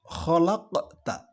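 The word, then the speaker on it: خَلَقْتَ: Berikutnya yaitu ada kata khalaqta. Khalaqta. Di situ ada qaf sukun yang dibaca memantul, tetapi tipis. Pantulannya tipis. Disebut dengan qalqalah sughra.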